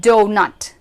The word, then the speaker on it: doughnut: The next pronunciation goes like o. Examples: although and doughnut.